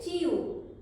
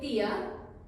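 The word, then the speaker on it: tia: टी आई ओ है पर पोर्चस में इसका साउंड होगा यू नॉट यू अगर आप यूरोपियन पोर्तुगीज पढ़ रहे हैं तो इसको हम कहेंगे ू इसको कहेंगे तिया पर ब्राजीलियन पोर्तुगीज में इसको कहेंगे चियू और इसको कहेंगे चिया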